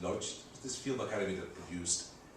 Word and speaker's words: Łódź: In fact, there was a totally unexpected benefit of this choice, when as a student in Łódź Academy, we would pronounce it Lodz, this film academy that produced a couple of well-known directors like Mr.